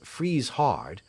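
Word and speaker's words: Friesshardt: of his bodyguard freeshard i should think you would be safe in pronouncing this freeze hard but you had better ask somebody who knows and loot hold to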